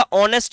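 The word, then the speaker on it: honest: ऑनेस्ट में एच तो silent रहता है।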